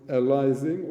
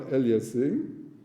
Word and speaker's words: aliasing: So what pronunciation you prefer, alising or aliasing? What is the proper? Aliasing. Okay, so you prefer aliasing. I think both of them are in different parts of the world.